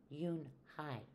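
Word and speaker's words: Unhei: "Unhi," said Unhi. "Ooh, nay?" the girl asked, scrunching up her face. "Ooh, ooh, Unhi," some kids chanted. "No, no," Unhi corrected. "It's spelled U-N-H-E-I. It's pronounced Yun-hai."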